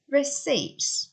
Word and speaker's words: receipt: 3, when you pay for your shopping, the assistant gives you a receipt. Receipt. Silent P there.